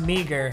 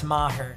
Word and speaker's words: Maher: lot of people think my last name is pronounced meager because everyone calls me it's not it's maher a lot of you probably already know that